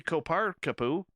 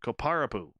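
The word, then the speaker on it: Kopparapu: we don't know ravi koparkapu literally says i know i butchered his name koparapu there it is he says there's a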